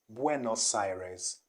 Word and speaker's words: Buenos Aires: buenos aires or buenos aires but the right pronunciation is quite close to this one okay which is buenos aires buenos aires not nor cyrus not cyrus buenos